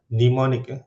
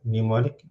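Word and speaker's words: mnemonic: to particular computer use pneumonic pneumonic so like a silent m in front of pneumonic so why do we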